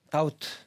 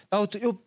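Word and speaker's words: doubt: 이렇게 해석한다고 했고요 그리고 다우트 다웃 비바람은 무금입니다 발음하네요 의심 의심하다 의심 의심하다 근데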